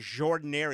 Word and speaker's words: Jordan-Hare: They call it Jordan-Hare. It's spelt different. Not Jordan. It's with a G.